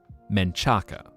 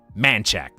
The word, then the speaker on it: Manchac: Now, most people would probably look at that and go, Menchaca, which would phonetically make sense. It's pronounced like this. Manchac.